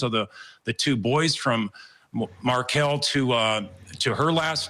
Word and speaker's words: Markel: It's not Markel, it's Markel.